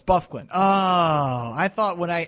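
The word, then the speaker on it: Byfuglien: hate it that's why my friend calls it buug actually thought that that's how you name that's how you pronounce it no it's buffin Oh I thought when I I had a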